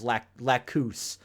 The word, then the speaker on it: Lacus: She's Lacus. Which is not how they pronounce it in Japanese.